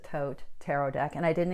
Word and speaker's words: Thoth: curly Harris or what's called the Thoth or I pronounce it Thoth tarot deck and I